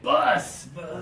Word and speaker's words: bus: one is bus yeah the pressure is really important okay bus yeah Anderson so good if you don't use the pressure you say oh I came to school on the boss today wow the boss cherry